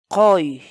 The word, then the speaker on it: quy: série de vídeos onde nós ensinamos você a pronunciar determinadas palavras em Quechua. Portanto, a nossa palavra do dia para hoje é Koi, koi, koi.